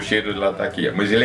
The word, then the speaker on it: Latakia: Eu, como queria saber o certo qual é, perguntei para um árabe, um libanês, qual era o nome da cidade. Mostrei o nome da cidade e eles pronunciam alguma coisa muito parecida com a lataquia. Então, para mim, ficou sendo lataquia.